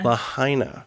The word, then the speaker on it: Lahaina: in Maui in the aftermath of the tragic Lahaina fire am I pronouncing that correctly it's Lahaina before we get directly to the tragedy we'd